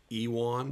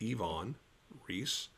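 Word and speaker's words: Iwan Ries: store into the show one of them is yvonne reese which a lot of folks say ewon but the wubble u is pronounced as a v he was a german immigrant so it's ivonne reese and you know what i'm a word guy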